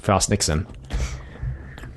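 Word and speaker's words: Frost/Nixon: later called frost Nixon frost you pronounce it frost Nixon but there's like a slash in between its yeah you pronounce have you want but I pronounce it frost Nixon anyway we're getting a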